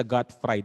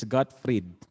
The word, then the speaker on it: Gottfried: Hindi sa Gottfried. Ano yan, naprito? Okay? Hindi sa Gottfried. It's Gottfried. Kasi German siya, German. Kaya ganun ang pagkaka-pronounce. Gottfried Wilhelm Leibniz.